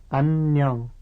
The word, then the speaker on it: 안녕: Notice that when two N sounds come one after the other like this, they are pronounced separately, the first at the end of the first syllable and the second at the beginning of the next syllable.